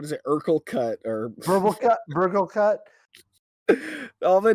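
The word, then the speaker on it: Burglekutt: They actually changed the name to Burger Cut. I'm making you say it wrong now too. I feel extra good. Burgle Cut definitely.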